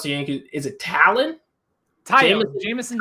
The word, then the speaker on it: Taillon: Big pitching matchup, and do you know how to pronounce the Yankees? Is it Talon? Jameson Taillon.